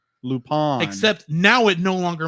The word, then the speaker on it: Lupin: lupon or whatever but they have to put the stress on the a legally lupone except now it no